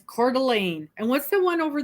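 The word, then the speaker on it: Coeur d'Alene: A ne ne a& people look at that and they go uh I cord and it's cordelan and what's the one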